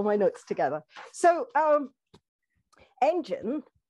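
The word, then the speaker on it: En'gen: i go all my notes together so um engine e n apostrophe g e n is pronounced engine it is one of the first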